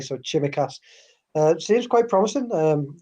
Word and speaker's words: Tsimikas: but um everything about chimichass i i believe it's pronounced not semicast i've seen a couple of um a couple of greek love supporters correcting theo yesterday so chimacast uh seems quite promising